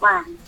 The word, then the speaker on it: once: ONCE. CE we Once. pronounce like S sound. We bite our teeth and put the air from the inside to outside.